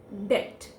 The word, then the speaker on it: debt: what we have to we have to discard the bull letter in it and it will become as debt we we need to discard it from the pronunciation not from the spellings so it will become as debt and please don't confuse it with the word death in death her sound